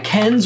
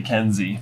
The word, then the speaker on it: Kenz: Currently held by Kenz or Kenzi, depending on your pronunciation of K-E-N-Z. Yeah, I would like to say Kenzi.